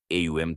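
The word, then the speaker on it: ॐ: AUM 3 ध्वनियों से बना है। अ, पहचान, जगने की अवस्था। उ, विस्तार, स्वप्नावस्था। म, विलय, गहरी नींद।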